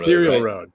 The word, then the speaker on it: Ethereal Road: me on Twitter already it's it's ethereal Road ethereum ethereal Road ethereal road is the correct correct pronunciation okay one of the